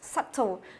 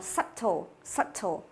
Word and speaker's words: subtle: Từ này mình không đọc là sub nhá, là subtle. Tức là cái âm b ở đây nó là âm câm. Nên mình đọc là subtle.